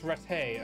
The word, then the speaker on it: Rattay: this a different town bigger thanks guys it's Rattay okay that's where I'm stuck serve rads Ikhwan